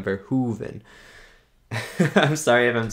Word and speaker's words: Verhoeven: verhoeven ver for heaven verhuven i think that's how you say it i think that's how you say it verhuven right like hoover dam verhoven i'm sorry if i'm